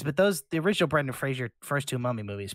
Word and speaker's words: Fraser: the river uh brandon fraser it is fraser right that's how it's supposed to be pronounced i'm not sure i always thought everybody calls it frasier and it's not correct there isn't a joke